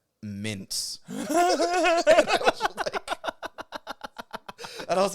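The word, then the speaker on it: Myntz: was product that was spelled m-y-n-t-z and i couldn't because like i've been do like my brain had been set on mispronouncing stuff but that was such a janky spelling and i'm like what the how the do you even pronounce that regularly and my friend looks at me and goes mints and i was like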